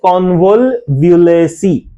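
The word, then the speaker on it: Convolvulaceae: What is the pronunciation? The pronunciation is convolvulacy.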